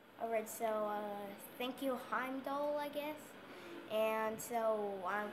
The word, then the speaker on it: Heimdall: Thank you, Heimdall, that's how you pronounce it, it's Heimdall. Alright, so, thank you, Heimdall, I guess, and so I'm gonna go and save Thor.